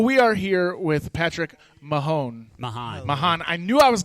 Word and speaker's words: Mahon: So we'll make sure that Mark Bland knows to pronounce it Mahon.